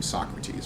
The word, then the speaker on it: Socrates: And then after this, I'm going to have to go back to calling him Socrates, because that's how it's pronounced in English.